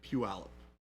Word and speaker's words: Puyallup: may we may relate to went to the Puyallup is that how you pronounce that uh it's Puyallup okay that's close it is not pronounced at